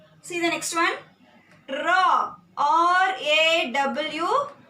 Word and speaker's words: RAW: R-A-W. RAW. Here CBI and FIR can't be pronounced like this, but here we can pronounce this R-A-W as RAW.